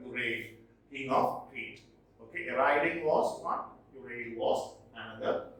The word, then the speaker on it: Orion: The next one in our list is Orion. It is not Orion, it is pronounced Orion.